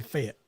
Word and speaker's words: Fayette: got to come to Fayette Alabama I mean it's spelled f-a-y-e-t-t Fayette but it's really fit yeah it fit Alabama